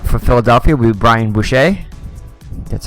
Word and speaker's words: Boucher: And in net for Philadelphia will be Brian Boucher. That's how you pronounce it.